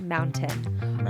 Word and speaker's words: mountain: You don't say the T? Mountain? No. That Why? is something that I did notice when I moved to Utah. No one says the T in mountain.